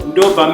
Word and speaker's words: ndobva: So you kind of bite your lower lip and you push it out, ba, ba, while you're trying to make a V.